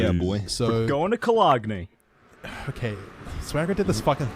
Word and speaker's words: Cologne: thing in the last recording that we lost, where he pronounced it Cologne, and we had to have like a 5-minute conversation with him about how it's pronounced Cologne and not Cologne.